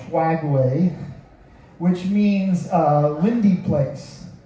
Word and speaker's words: Skagway: I cannot pronounce that correct. It's s a g h w a e y swagway which means uh windy place or rugged place which seems to fit that area.